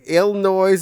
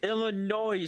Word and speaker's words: Illinois: those things geography what's this Kong bangled garage ill noise is where the the Nepal plushy lives you forgot all your knowled and that's also where mu is no can make you ill it's pronounced Illinois sir I come from Indiana I'm I'm now